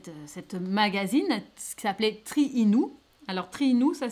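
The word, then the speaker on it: Triinu: cette cette cette cette magazine ce qui s'appelait triinou alors triinou ça s'écrit t r I i n u c'est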